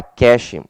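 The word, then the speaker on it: cache: preste atenção é porque se escreve cachê mas fala Cash tá Fique atento se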